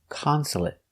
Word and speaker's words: consulate: t consulate consulate consulate three syllables the stress is on the first syllable Consulate. Consulate. Also finish with a stop t. Consulate. Not consulate, but stop t.